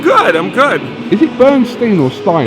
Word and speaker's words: Bernstein: Is it Bernstein or Stein? It's actually Bernstein. Yeah. Although I think I should be pronouncing it Bernstein. Like Leonard Bernstein pronounced it Bernstein, but my family apparently did it wrong.